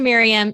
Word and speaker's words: Mirjam: We pronounce the J in Jason's name, but not in Mirjam's. So if you see us online, shout out to Mirjam. It's not Mirjam.